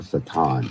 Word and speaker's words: Satan: So, this man who will be directly controlled by Satan, or Satan, if you pronounce it correctly, is instead of Christ.